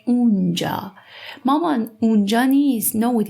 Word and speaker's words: آنجا: آنجا we pronounce as اونجا.